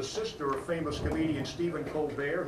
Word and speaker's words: Colbert: of famous comedian stephen colbert he pronounces it colbert she pronounces her name colbert bush i'll throw it back